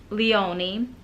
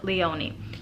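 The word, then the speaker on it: Leonie: having trouble with I I'm just so bad pronouncing names um it's Leone which is l-e-o-n-i-e which now I'm like okay yeah that's obvious so Leone and then we have we don't have much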